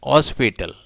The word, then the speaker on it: hospital: British people say N hospital. They make the first letter H as silent, so they use N. They pronounce this noun as hospital, N hospital. But American का कहना है A hospital. The people of America use A before the word hospital. Here H is not silent.